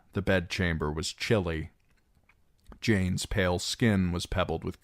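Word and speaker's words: Jeyne: "Jane, Jane, it rhymes with pain."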